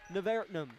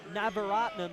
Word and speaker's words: Navaratnam: Davis, Nevertnum for 3, good. Navaratnam is how you say his name, my apologies.